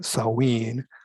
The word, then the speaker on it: Samhain: celtic tradition of salween i know it looks like samhain but it's a celtic word and you pronounce that salween that later evolved into